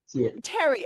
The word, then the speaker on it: Thierry: Thierry. Pronounce it like a T-A-R-E. Terry. Okay. The H is silent.